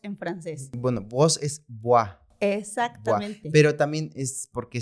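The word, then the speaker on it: voix: se dice voz en francés bueno vos es buah exactamente pero también es porque se escribe con x Ajá la escritura es B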